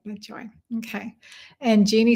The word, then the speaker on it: Joie: Joie in French, it's spelled joie. Like joie de vivre. So I said, joy.